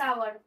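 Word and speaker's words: hour: I shall be back in dash आवर। तो आई shall be back in आवर। अब आवर का sound क्या है? वोवेल साउंड है।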